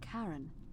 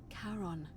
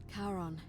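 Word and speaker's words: Charon: coin it's just as you described it your pronunciation is a little off the name you heard wasn't karen it was c-h-a-r-o-n as in caron the ferryman of the dead karon who in exchange for the right coin helps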